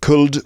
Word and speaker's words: could: Talk, could, would, and should all have an L in them, but it's not could, would, or should. It's could, would, should.